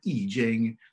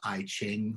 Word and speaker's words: I Ching: classic of changes, the I Ching. Sometimes people pronounce that in English as I Ching. The pronunciation's wrong, but you might have heard people refer to the I Ching.